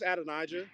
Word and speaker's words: Adonijah: Yeah, it's Adonijah.